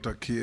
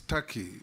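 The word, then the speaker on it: Türkiye: It is not called Turkey, it's Turkey. It's only written Turkey, but it's pronounced Turkey. Thank you.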